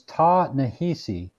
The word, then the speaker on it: Ta-Nehisi: His first name is Ta-Nehisi, Ta-Nehisi, and his surname is Coates, Coates.